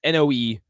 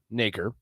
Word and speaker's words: Noecker: I'm going to go with Naker. Carson Naker. It's Noecker. Naker. Yeah, that sounds right.